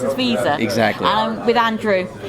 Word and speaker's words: Viza: It is pronounced as Viza.